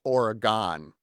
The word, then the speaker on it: Oregon: In Wisconsin, we have an Oregon, which is just outside of Madison, and it's Oregon. Do you spell it like Oregon? Exactly the same way, but it's got that Midwest pronunciation with long vowels, don't you know?